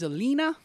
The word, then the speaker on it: Elina: And so this is Elina. That would be how they would pronounce it there in the Scandinavian country. So Alina.